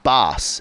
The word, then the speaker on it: Bass: bit more behind bass it's pronounced bass as in ass jente bass is a Dutch name Okay cool so we